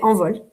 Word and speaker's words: Envol: How do you actually say it? I say Envol. You say it right, Envol.